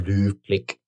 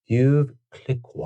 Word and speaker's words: Veuve Clicquot: I'm not pronouncing that right. There's no way. How? Come on. You know what I want. You know what I want. All right, here we go. Veuve Clicquot.